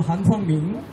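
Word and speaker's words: 韩方明: 그런데 중요한 건 뭐냐면 2017년도에 문재인 당시 더불어민주당 당 후보 경선 당시에 차하을 학회의 회장인 우리 발음으로는 한방명, 중국 발음으로는 한팡밍, 이 사람이 중국 정협의 외사위원회 주임입니다.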